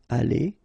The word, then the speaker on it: allées: You don't pronounce it, but still you need to write it.